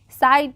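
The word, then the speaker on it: sighed: वे ऑफ the world uh साइन साइड पढ़ेंगे साइड जी एच जो होगा वह साइलेंट होगा साइड the Dunki some ways are very trying specially specially the specially पढ़ेंगे।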